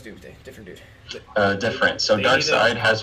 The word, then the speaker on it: Darkseid: It's pronounced Darkseid.